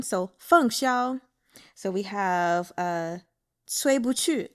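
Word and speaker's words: 凤霄: So now moving on to Fèng Xiāo. His name is Fèng. That's the fourth tone. Fèng. Xiāo. First tone, so Fèng Xiāo.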